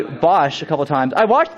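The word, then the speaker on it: Basch: pronounce the name differently he pronounces it like bash when in the game it's like Bosch so why the difference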